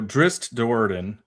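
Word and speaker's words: Drizzt Do'Urden: So, Dri Dordan, there's a T at the end.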